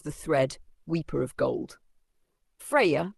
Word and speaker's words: Freyja: Freyja, pronounced Freyja, is not just a love goddess.